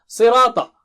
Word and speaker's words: صِرَاطَ: Sirata. Si is very thick and high.